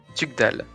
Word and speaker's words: Tugdual: Comment est-ce que vous vous Le appelez mien, Tugdal. Tugdal. Ça s'écrit Tugdual.